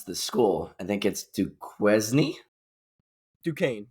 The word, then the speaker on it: Duquesne: I don't know how to pronounce the school. I think it's Duquesne.